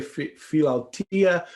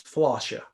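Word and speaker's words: philautia: i want to say feel altea but i googled it it's flosha and if there's anybody greek out there i want to make sure i pronounce it right but philosophy is the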